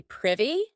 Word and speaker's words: privy: To be privy and note that pronunciation not privy privy.